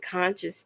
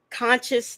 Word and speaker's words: CONCIOUZ: CONCIOUZ TV. It's spelled like conscious, but at the end it has a Z instead of an S.